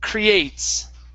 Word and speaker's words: creates: word is creates okay so this e is silent we we do not say creates it's creates okay create uhhuh one more